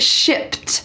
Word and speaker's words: shipped: Let's talk about this word shipped. First, the pronunciation. Notice that at the end, there is a T sound.